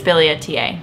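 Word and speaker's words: billietiae: Yes, I've always pronounced it Bilietiae, but I think it's Bilietiae.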